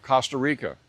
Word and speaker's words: Costa Rica: It's never pronounced like the O in cotton or Costco or Bob Costas, and I do not live in the country of Costa Rica.